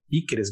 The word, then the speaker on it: Piquerez: Que é um jogador que ontem eu até chequei a pronúncia com uma pessoa do Palmeiras, é Piquerez mesmo, né?